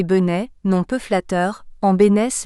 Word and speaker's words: Bentessé: Baptiste Bénesse reçoit l'autorisation du tribunal de transformer le nom de Bentessé, qui devait se prononcer Benet, nom peu flatteur, en Bénesse le 7 juillet 1855.